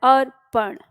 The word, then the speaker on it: अर्पण: का के ऊपर जो आर की मात्रा है ये पी से पहले यानी इसका उच्चारण यहां होता है अर्पण ठीक है अर्पण शब्द